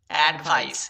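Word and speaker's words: advice: Eddy at, ভিআইসিই ভাইস, ভাইস, অ্যাডভাইস। এখানে কিন্তু সিই এর উচ্চারণ হবে দন্ত স, এখানে কিন্তু পাক্কা দন্ত স এর উচ্চারণ করতে হবে।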